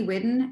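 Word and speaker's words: Whiddon: And it's Whidden? Yes, Whidden, W-H-I-D-D-O-N. Thank you. Just want to make sure I say it right.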